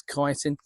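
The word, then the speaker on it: chitin: Now in these is a thing called kiten or chitten depending on how you pronounce it in the UK. I have always known it's chitten but apparently it's kiten.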